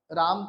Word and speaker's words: राम: आता है है ना जैसे अंग्रेज लोग क्या करते हैं राम की राम राम जो उच्चारण आ रहा है उसकी जगह वो क्या उसको बिगाड़ के क्या कर देते रामा कर देते आकार कर देते हैं दीर्घ आ का स्वर ले आते हैं उसकी जगह उसमें हस्व